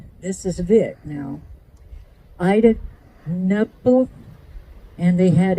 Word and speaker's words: Knuppel: And in 1892, he married, this is Vic now, Ida Knuppel, and they had 8 children. Knuppel, okay. They did pronounce the K on that, okay.